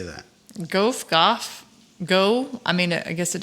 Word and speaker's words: Gough: It's spelled like Van Gogh, but I now know that Van Gogh is not pronounced Van Gogh anywhere but in the United States. So yeah, that's right. So Van Gogh, or this Michael Gough, or Go, or Gow, who knows?